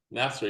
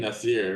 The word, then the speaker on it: Nasser: And then did I get his name right? Woohoo. Nasser, yeah. Yeah. I've been saying his name wrong for a year. I'm so happy. You're saying Nasir, right?